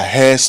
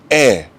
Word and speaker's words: heir: you saying we are hairs to the throne please yes there's an H but that H is very silent and and so next time you want to say it right just say you're an